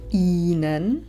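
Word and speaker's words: Ihnen: stojí na začiatku slova innen písmeno H nevysloví pretože stojí za samohláskou i samotné i Však vyslovíme dlho h prvé písmeno H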